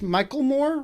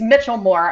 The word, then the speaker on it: Michelmore: your last name pronounced michael moore no it's it's mitchell moore as if there were a t in there wow yeah nobody gets